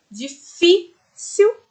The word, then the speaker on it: difícil: Mesmo se não tivesse o acento, nós sabemos na palavrinha difícil. O fi tem um som muito mais forte que as outras duas, né?